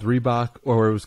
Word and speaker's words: Reebok: say and very understandable it's just the two syllables Reebok and no matter how fast